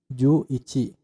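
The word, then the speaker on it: 十一: dulu baru angka satuannya contoh 10 adalah ju1 adalah ctde1 kan menjadi juichi Nah itulah 11street yang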